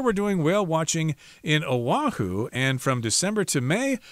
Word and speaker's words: Oahu: I guess you're supposed to pronounce it as Oahu, not Wahoo, as I just said.